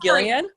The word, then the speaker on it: Gillian: It is Gillian? Sorry, yeah, it says the G is pronounced hard as in Gil, not Jill.